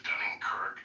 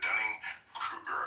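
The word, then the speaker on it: Dunning–Kruger: and and I like to call it the Dunning Kirk effect.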